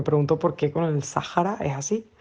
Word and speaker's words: Sáhara: esdrújula y además, extrañamente, la H, que en este contexto normalmente es muda, aquí por alguna razón se pronuncia como una J suave.